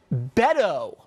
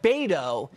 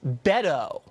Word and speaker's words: Beto: wrong from the jump it's Beto O'Rourke not bado it's Beto did you even know that